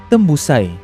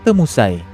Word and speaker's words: Tembusai: Begitulah asal-usul orang atau bangsa Tembusai dari Sumatera, dan saya percaya sebutan yang sebenar adalah Tembusai dan bukan Temusai.